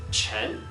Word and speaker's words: Chen: the next one is Chen again it's quite similar to the English but the minor difference lies in the pronunciation of n in English it is